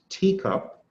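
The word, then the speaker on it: TECOP: The next one is a teacup, pronounced teacup.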